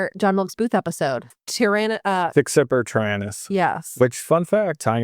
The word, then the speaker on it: Sic semper tyrannis: How do you pronounce it in Latin? Sic semper tyrannis. Sic semper tyrannis. Semper, like always, like, Semper Fi?